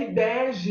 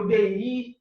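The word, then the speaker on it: Ibeji: E aí, falando de inspiração, a nossa inspiração hoje para esse encontro é Ibege ou Ibeí, tem várias pronúncias, né, para esse orixá, que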